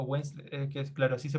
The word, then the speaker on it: Winslet: Ah, ahora me acordé del apellido, no sé si lo había pronunciado bien, era Kate Winslet, Winslet o Winslet, que es claro, así se pronuncia el apellido de la chica que protagonista del Titanic.